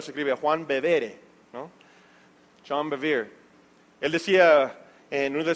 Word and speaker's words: John Bevere: Me gusta mucho escuchar al pastor, predicador John Bevere, Bueno, en español se escribe Juan Bevere, ¿no? John Bevere.